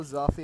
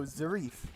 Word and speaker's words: Zarif: Hello, Zafi. How's it going? Oh no, Zarif. Sorry, I said your name wrong.